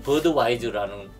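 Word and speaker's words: Budweiser: 그래서 나도 미국 가서 이 맥주를 만들어야지 해서 미국에 와서 맥주를 만들고 미국식 발음인 버드와이저라는 브랜드로 맥주를 생산하게 된 거죠. 독일에서는 부드바이스라고 하는데 이게 독일 영어식으로 하게 되니까 버드와이저가 된 거예요.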